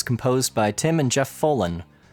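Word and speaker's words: Follin: by tim and jeff folen although it may be pronounced fallen it's kind of spelt like follicle so as soon as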